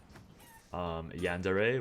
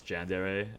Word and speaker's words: Yandere: Yandere, which I'll probably pronounce Jandere at some point.